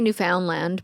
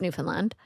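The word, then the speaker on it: Newfoundland: how you say it well you can say New Foundland but it's Newland oh yeah you sound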